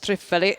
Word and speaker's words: Thrifali: Let's see what Thrifali, you've got to say it like that, otherwise it's wrong, is going to do here.